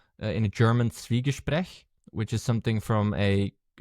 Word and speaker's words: Zwiegespräch: It's Schwie from Zwiebeln, and that's Zwiebeln is an onion in German.